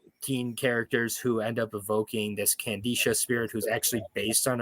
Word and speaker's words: Kandisha: So either way, long-winded way of saying Candisha. It's spelled Kandisha.